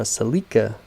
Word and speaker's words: Celica: bucks selling my 95 celica or a celica that's the brits say 2.2 front wheel drive